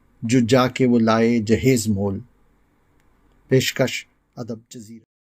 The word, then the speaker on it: جہیز: ساتھ حاضر ہے، اور ہمارا آج کا لفظ ہے جہیز، جو درست ہے۔ عام طور سے دہیز بولا جاتا ہے، جو غلط ہے۔ اس کے معنی ہیں